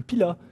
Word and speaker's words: Pilat: des montagnes en revanche le pilat et le forez on me prononce ni le z ni le thé comme ça vous le